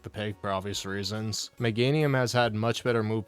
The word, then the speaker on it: Meganium: One, it's pronounced Meganium.